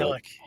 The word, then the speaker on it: Milich: Do you pronounce it Milich or Milik? Milik. Milik, that's what I thought.